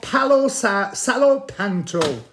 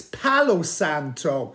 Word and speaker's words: Palo Santo: memory it is called Palo salop panto am I saying it right no I'm not it's Palo Santo look at that it